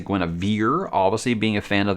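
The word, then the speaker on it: Guenhwyvar: way that it's spelled i'm going with gwynevar i think that sounds much much better and it sounds really really cool uh already one of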